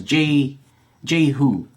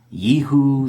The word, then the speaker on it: Jehu: I mean, that's how I pronounce it. There's debate. It's a Jewish name, but it's like an old Jewish name, so I think even Jews debate as to how to pronounce it. Some pronounce it Yehu, some pronounce it Yehu. I just grew up pronouncing it Jehu, so that's how I pronounce it.